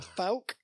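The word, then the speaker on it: Fouke: Well, we're talking about the Faulk Monster today, though. The what? Wow. The Fal Monster.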